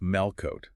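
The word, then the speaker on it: מלכות: The Hebrew concept is Malkut. Malkut, pronounced Malkot.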